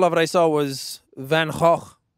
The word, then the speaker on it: Van Gogh: what I saw was Van hog which is how you actually pronounce his name not Van Gogh yeah whatever it's Vanguard